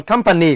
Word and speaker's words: company: Còn company quá dễ, 3 2 1 là sẽ là số 1.